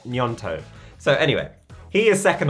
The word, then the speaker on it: Gnonto: and we have nyanto I've watched so many videos on how to say his name please correct me in the comments if I'm wrong I think it is nyanto so anyway he is